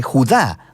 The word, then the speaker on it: Judá: La carta de Judas, o más precisamente Judá, de acuerdo con la pronunciación de su nombre tanto en griego como en hebreo.